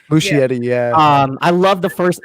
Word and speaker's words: Muschietti: In terms of Andy Muschietti, is that how you say his name? Muschietti, yeah.